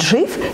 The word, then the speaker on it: GIF: Более того, сам отец гифок Стив Уилхайт утверждает, что в этом слове надо произносить мягкий G, и именно вариант GIF является единственно правильным.